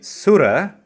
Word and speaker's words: Surasthana: When you say Sura, do not drag the Su. Sura means hero, so the whole meaning changes.